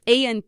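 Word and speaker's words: ahora: no right here um the word for now is a AA spelled h o r a means our and the H is not pronounced in Spanish so AA means our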